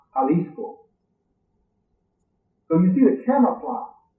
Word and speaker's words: Jalisco: Today it's pronounced Jalisco.